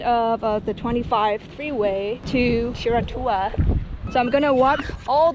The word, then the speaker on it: Whiritoa: It's called Whiritoa, which I did pronounce it right.